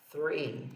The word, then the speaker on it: three: Inclusive, também a palavra three, que significa três. Three, ó, não é tree. Tree é árvore. Three é o número 3.